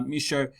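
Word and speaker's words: Michaux: like that um and the x is silent uh misho he was selling them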